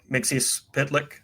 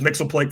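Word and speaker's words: Mxyzptlk: That story ends with Superman willingly killing Mixius Pitlick. Sorry. I started with Super Friends. I apologize to everybody. He was Mixelplick for a decade before I heard it pronounced the other way.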